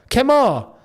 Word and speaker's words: Kemar: Here's some help. Say Ken. What? Ken. Now say Kem and then Kemar. Oh, is it Kemar, not Kemar? Kemar.